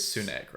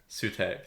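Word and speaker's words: Sutekh: Am I pronouncing his name right? It is Sunek, right? Sutek, that's it.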